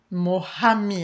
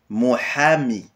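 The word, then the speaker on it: محامي: hein alors un avocat mohami avec le très bien avec le H qui expiré dans la gorge d'une façon aigue ha mohami mohami très bien le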